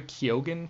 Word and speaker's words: Keoghan: show and berry God do you know how to pronounce his last name berry Keoghan kekeke and ki yeah I think it's key okay that's how I